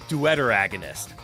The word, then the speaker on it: deuteragonist: Oh, but yeah, pronounced uh duderagonist. Oh, I'm going to stick with deragonist. Oh, I get it. The word duet is in there. So, it's dueteragonist.